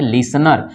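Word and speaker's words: listener: ना तो उसे समय टी क्या हो जाता है साइलेंट हो जाता है तो यहां पे देखिए एस टी ए एन आया होगा तो इसको पढ़ेंगे लिस्नर लिसन वाले मीनिंग में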